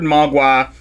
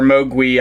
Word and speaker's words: mogwai: it's basically unrecognizable but the word magua or mogwi i guess is how it's originally pronounced is cantonese for monster evil spirit